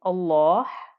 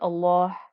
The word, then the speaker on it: Allah: that Lem in the word Allah with a kesra then the lamb stays light and the two count stretch the hidden two count stretch also remains light so please go over